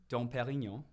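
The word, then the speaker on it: Pérignon: Let's get that pronunciation down one more time. Can you just say the name of the Dom Perignon?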